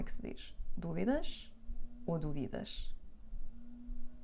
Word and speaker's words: dúvidas: o acento Neste vídeo e o tiramos essas dúvidas E ela como é que se diz dúvidas ou dúvidas e vão aprender agora sejam muito